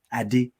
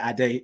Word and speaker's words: Ade: have to be african if i tell them the right pronunciation adi they just suddenly go into character i did i'm like calm down calm down you know no take a breath and just say a day it's it's not that